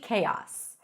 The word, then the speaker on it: chaos: world is in complete chaos. Also, sometimes my house is a complete chaos. Chaos. K-os. K-os. And when you combine it, you almost hear as if there is a y sound pronounced there.